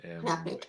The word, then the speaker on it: Gwyn ap Nudd: Apnid, is that how you say it? So yeah, Gwyn ap Nudd Gwyn Apnid.